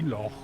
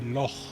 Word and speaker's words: loch: And the Scottish people really pronounce the CH properly. They say loch. Now, English people can't say that. So what they normally say is loch.